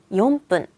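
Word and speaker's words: 四分: 3, 4분은 이유 없이 세게 읽어요. 3분은 3분, 4분은 용분.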